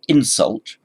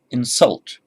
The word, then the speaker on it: insult: If you put the stress on the first syllable, insult, that's a noun. If you put it on the second syllable, insult, it's a verb.